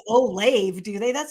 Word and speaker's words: Olave: name wrong so chris how do you say his last name oh lobby oh love it oh i do say it right yes you do say it right it says oh lave do they that sounds